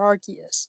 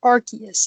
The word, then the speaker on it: Arceus: Ryan Reynolds did for Arceus because he didn't say Arceus he said Arceus yes it's not Arceus it's flipping Arceus I will fight anybody who says Arceus I okay we're gonna